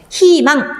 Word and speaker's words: 희망: 자, 두 개 다 흐이가 사용되고 있는데요. 흐이 이렇게 발음하시면 안 되겠죠? 왜? 의 모음 위에 뭐가 왔으니까? 히읗이라고 하는 자음이 있기 때문에 이렇게 자음이 올 경우에는 뭘로 발음한다? 이로 발음한다 라고 얘기했습니다. 그래서 저희, 희망 이렇게 발음해야 맞고요.